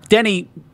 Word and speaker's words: Denis: yeah there's Vu I've heard yeah and then Denny Pretty were set on that it's not Dennis yeah but I've also heard Americans say you know Dune by Denis vui you're